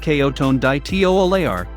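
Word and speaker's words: Coton de Tuléar: friendly cote and de tullier pronounced kayo tone dai teo aleyar is covered in a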